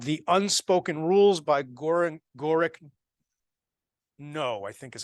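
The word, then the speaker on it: Gorick Ng: it's like 10 bucks gorick no I think that's how you say it's Ng gorak no it is a very good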